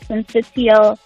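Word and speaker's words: syncytial: virus what is that and am I even pronouncing it correctly you've said it correctly VG so it's respiratory sensial virus it is in short RSV it's one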